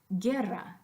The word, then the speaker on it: guerra: just the letter G but sometimes it has to be GU you doesn't carry a sound it just goes with the gun so by itself G got them but Guerra there is absolutely no sound that goes with that you but if you took